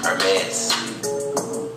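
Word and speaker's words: Hermès: Hermes. The H is silent.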